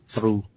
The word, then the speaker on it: through: Rồi through, cái này là through. Through. Mình cắn lưỡi, mình cắn đứt nha.